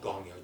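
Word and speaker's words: gongyo: really really fast but she was just the pronunciation was great and to this day she STS an awesome gongo um it's called gongo g n g yo gong gongo which means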